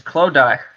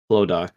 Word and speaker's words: Clodagh: you pronounce these words, miss, is Clodagh and McDonald. The second one's kind of self-explanatory, but the first one's kind of... Clodagh. Yeah, so it's Clara and Clodagh.